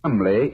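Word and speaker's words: Cholmondeley: had no reason to know that the name Chumlee is in no way pronounced the way it is that name spelled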